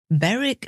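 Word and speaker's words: Berwick: quite well and in the northeast of England baric upon weed that's b e r w i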